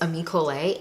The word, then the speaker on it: Ami Colé: It's Ami Colé, and I have really been loving these.